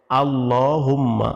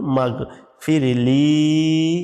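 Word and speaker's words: اللهم اغفر لي: আল্লাহ বলি বলি নাই আল্লাহুম্মা আল্লাহুম্মা আল্লাহুম্মা এখানে থামবেন না এই মিমের সাথে গনকে মিলায়ে ধরবেন আল্লাহুম্মা আল্লাহুম মিম গন জবর মাগফিরলি এখানে টান আছে মাগফিরলি এরপর ওয়ারহামনি এখানে ওয়ারহামনি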